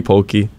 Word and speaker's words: poke: Poke, not pokey, not Pokemon. Actually, it's closer than to Pokemon than it is to like hokey pokey.